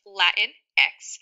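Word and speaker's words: Latinx: typically it is pronounced Latin X Spanish speakers May pronounce it Latin X Latin X because the I makes more of an e sound in Spanish so a Latina is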